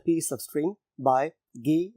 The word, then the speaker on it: Guy: बाय गी डी मुफसा यह French word है इसको गाय नहीं पढ़ेंगे हम यह वर्ड इंग्लिश में भी सेम स्पेलिंग के साथ मौजूद है उसमें इसको गाय पढ़ा जाता है क्योंकि यह एक फ्रेंच राइटर है तो इसलिए इसकी जो प्रोनंसिएशन बनती है वो गी डी मसा पढ़ा जाता है तो हम इसका